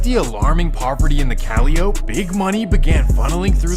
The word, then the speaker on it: Calliope: And that takes us to the famous Calliope Projects. And again, it's supposed to be pronounced Calliope, but this is New Orleans. Well, the Calliope Project Calliope. Now, it actually sounds better the other way, Calliope.